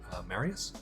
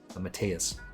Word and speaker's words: Mateus: playing, Josh Manley and Marius. Is that right? It is? I don't know how to spell it, how to say his name correctly. Mateus, that's it.